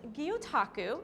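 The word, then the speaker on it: gyotaku: I can't wait to show her my world of guotaku. She seems really excited about it. So, how do I pronounce this? So, it's pronounced guotaku. Okay. Um, it's a Japanese word.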